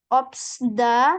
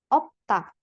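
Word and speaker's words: 없다: ini abaikan ya terus ini obsda itu salah yang cara e yang benar cara bacanya adalah opta dari mana Di Sini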